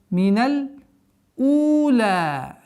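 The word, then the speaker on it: مِنَ الْأُولَىٰ: С огласовки фатха уходим на лям. Миналь ула. Здесь первое удлинение в размере двух огласовок. У. Тянем. Миналь у. Ла. То же самое здесь. В размере двух огласовок удерживаем.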